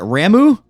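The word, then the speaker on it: Ramuh: next one you get is I guess they pronounce it ramu I thought it was or whatever uh the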